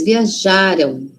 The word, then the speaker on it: viajaram: Lembra que passado é antes, não é? Passado tá antes da gente. O passado, então a sílaba tônica, síba forte, tá antes. Viajaram, viajaram. E o futuro? Futuro não é lá na frente, então a sí forte tá lá na frente. Viajarão, viajarão.